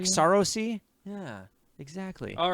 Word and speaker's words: Saoirse: It's Saoirse Ronan. That's how you say her name. Saoirse. Oh man, it's like Sarosi.